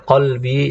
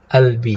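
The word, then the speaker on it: قلبي: Kalau orang Mesir, orang Mesir mengganti qaf dengan dengan Hamzah. Jadi qolbi dia bilangnya apa? Albi.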